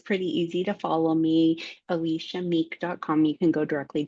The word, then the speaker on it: Elisha: It is pronounced Alicia, but it is uh phonetically Elisha.